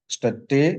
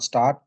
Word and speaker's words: statt: स्टट्टे या अनस्टट्टे या स्टट्टे ऑल the same. सो स्टट और इसका प्रोनाउंसिएशन इट्स नॉट स्टार्ट, स्टट, स्टट, ठीक है।